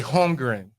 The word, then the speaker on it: Holmgren: Which is where, man, hey, when you have a Holmgren, I think I said that right?